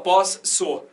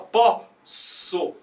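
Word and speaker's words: posso: Aqui você não fala os 2 S's, você pronuncia, você não fala pós, so. Você fala pó, so. Então é só um S, né?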